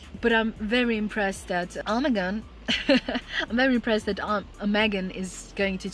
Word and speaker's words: Omegon: I think in English it is Omegon, like O and Megan. I don't know why. In German it would be Omegon.